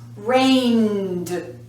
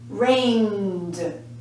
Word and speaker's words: rained: the vibration sound so this word in the past becomes rained rained make a vibration here continue with the sound of the vibration here no vibration no vibration vibration vibration right get the vibration here so it's here too the spelling of course is still Ed but the sound is De another word that goes